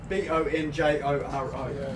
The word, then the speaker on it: Bonjoro: How do you spell it, man? So it's French. Bonjoro.